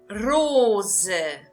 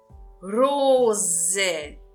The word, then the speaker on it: Rose: Rose. Rose. Então, verifique aqui de novo, eu estou pronunciando o S com som de Z, pelo motivo dele se encontrar entre duas vogais, o O e o E.